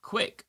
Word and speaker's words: Gwick: Gwick says Gwick is pronounced like quick.